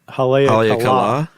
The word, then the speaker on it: Haleakala: I would say Haleakala. I think it is, but I think the accent's actually on the last syllable. Haleakala.